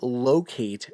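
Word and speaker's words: Loc8: So, this I'm holding it up on the video version is the Journey Locate Versa Wallet. And locate is spelled L O C 8 like the number.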